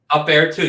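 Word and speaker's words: UPair 2: So are you familiar with the, I don't know if it's pronounced U-Pair or Up Air 2? Up Air 2, yes.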